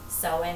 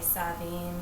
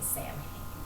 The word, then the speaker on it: Samhain: depending on your tradition it can be pronounced differently there's soin as I sing it or so or some traditions say sobbing sobbing or for some Americans you have family please do not say Stan there are many other